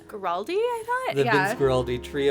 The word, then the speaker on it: Guaraldi: And if you're not familiar, it's done by the Vince, I think it's pronounced Guaraldi? Guaraldi, I thought?